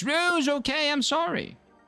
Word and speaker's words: Rouge: I thought it I thought it was rogue. Like r o g gu, but it was rou. It was r o u g e.